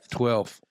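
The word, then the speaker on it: twelfth: Yeah, 12th. 12th. He pronounced the F that is in the word. 12th.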